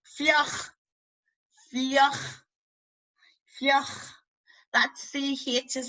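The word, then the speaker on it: fliuch: As long as you don't pronounce it like a hard C, I'd rather you pronounce it like, almost like a H than a hard C. Fioch.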